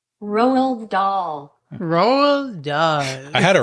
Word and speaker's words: Roald Dahl: So Roald Dahl, yeah.